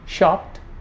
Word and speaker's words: shopped: If a pa sound is followed by ed, the ed is pronounced as t. I repeat: shopped, slapped, wrapped. Some more examples for this: dropped, slipped, popped.